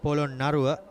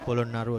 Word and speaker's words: Polonnaruwa: Pa with the gloves behind the wickets for Royal College Poland Narua. Well, in fact, it's Royal Central College Polon Naru. Kevin, we've all been pronouncing it wrong so far.